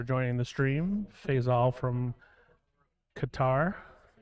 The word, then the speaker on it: Qatar: the stream Faisal from Qatar or ketter I think it's how it's pronounced thank you oh it